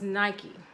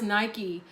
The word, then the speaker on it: Nike: that you received is Nike I'm assuming it's pronounced like the shoe because I know that's where the shoe company got their name from but she represents ambition